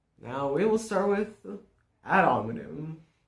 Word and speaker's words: ad hominem: Now, we will start with ad hominem. I think it's pronounced like that. Ad hominem. Ad hominem.